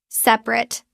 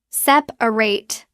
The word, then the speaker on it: separate: As a verb, we pronounce the ending clearly. Separate three syllables. As an adjective, we drop the middle a it becomes separate two syllables and the ending sounds like rit.